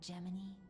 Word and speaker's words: Gemini: I love how they pronounce Gemini like Jiminy just so it sounds closer to Jiminy.